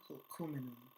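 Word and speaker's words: Hul'q'umi'num': pronounce this correctly, Hukuminum, there's like a thing with your throat that you have to do with that Q, Hukuminum, okay, the Hukuminum Nation, and an aquaculture specialist, says the communities themselves had never forgotten.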